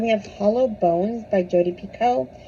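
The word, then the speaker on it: Jodi Picoult: Um, by the way, it's Jodie Pico, not Picult. She actually posted a Tik Tok where she's like saying it slowly for people who still don't understand. It's spelled with an L, but you don't say the L or the T. It's pico, like pico deayo, as she says.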